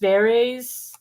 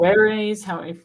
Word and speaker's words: Verres: I just read his Against Verres, or Verres, classical pronunciation.